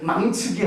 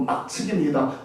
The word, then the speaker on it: 막측: 신묘막측이라는 말을 잘못 발음하니까 신묘망측하나이다. 그런데 망측이 아니고 막측입니다.